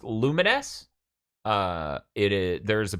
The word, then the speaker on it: Lumines: theme oh it's for the game lumines uh pronounced lumines uh it is there's a PS4 version of